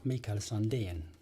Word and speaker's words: Mikael Sandén: All my other guitars are Sandén, so it's, or Mikael Sandén, pronounced in Swedish.